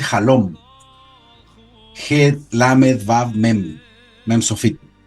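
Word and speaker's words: חלום: En hebreo la palabra sueño se dice halom.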